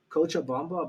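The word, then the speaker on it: Cochabamba: I guess but uh you were born in kocha Bamba Bolivia that's right I pronounced that correctly yeah you pronounced it correctly yeah and your guy's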